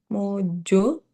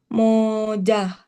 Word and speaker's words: moja: Mo mo mo mo mo mojo. Sebelahnya salah. Bukan. Moja. Yes, betul, moja.